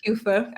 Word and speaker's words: QEWFA: in togo yeah so the organization like you pronounce it correctly kufa stands for quality education and water for all